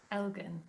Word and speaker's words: Elgin: Because I'm terrible, obviously, at pronouncing things. Elgin? Elgin.